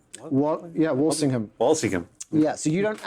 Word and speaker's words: Walsingham: about state spycraft in in Elizabeth the First's Walling sham yeah Walsingham wallingham yeah so you don't actually get to